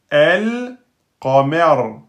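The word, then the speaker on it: القمر: Donc là, on prononcera toutes les lettres. El, qamer, El, qamer.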